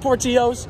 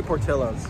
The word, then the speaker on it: Portillo's: four bucks three bucks so he just had poor Chios how was it good hot dog as good as a hot dog it's actually Portillo's it's not it's not yeah so you pronounce